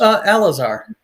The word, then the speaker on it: Alazar: Is that how it's pronounced? Alazar, actually. Alazar.